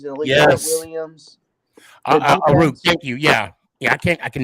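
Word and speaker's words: Aiyuk: Eru? Yeah. Unruh or something. Debo, Kittle, who's like arguably one of the best tight ends in the league. Yes. Williams. Aru, thank you.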